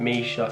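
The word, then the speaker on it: Mica: My little sister's called Misha, that's spelled M-I-C-A, and my older sister's spelled Sade, spelled S-A-D-E.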